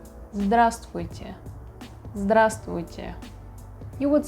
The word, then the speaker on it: Здравствуйте: We don't pronounce all the letters in the word. We say "Здравствуйте". Здравствуйте. Здравствуйте.